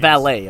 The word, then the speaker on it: valet: And yes, it's pronounced that way because it's French.